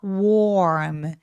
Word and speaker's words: warm: 근데 따뜻한 건이 AR 부분이 마치 A or B 할 때가 있다고 생각하시면 돼요. 그래서 warm 조금 길어지게 표현이 됩니다.